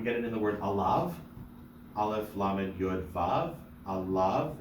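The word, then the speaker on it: עָלָיו: We get it in the word alav. Aleph, lamed, yud, vav. Alav. It's not alive. It's alav.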